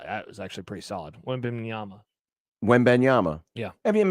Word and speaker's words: Wembanyama: Victor Wimbenyama. Wow, that was actually pretty solid. Wembanyama. Wembenyama. Yeah. I mean, if you sound it out phonetically, W-E-M, Ban, B-A-N, Yama.